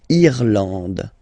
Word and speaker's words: Irlande: Irlande. Okay, A-N, en, D, and final E, not pronounced.